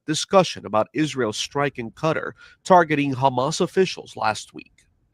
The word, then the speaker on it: Qatar: The pron proper pronunciation is Qatar. Q A T A R.